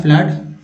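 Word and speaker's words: flood: फ्लड में double O का उच्चारण आ के रूप में हो रहा है फ्लड, फ्लड, और रूम में डबल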